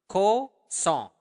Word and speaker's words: kosong: Kosong. Make sure that you are pronouncing the nasal sound there. Kosong. Song. Like a song.